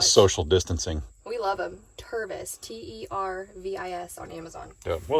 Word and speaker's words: Tervis: And my bird cup from, is it Tervis?